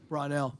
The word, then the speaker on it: Brownell: Uh couple coach, first of all, help me on the pronunciation. Is it Brownell or Brownell? Brownell.